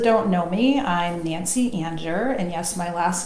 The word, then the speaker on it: Anger: So those that don't know me, I'm Nancy Anger, and yes, my last name is spelled like Anger, A-N-G-E-R, and I'm an intuitive guide and master energy healer.